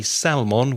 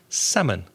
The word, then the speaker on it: salmon: silent so we don't say Salman we say salmon I'm going to eat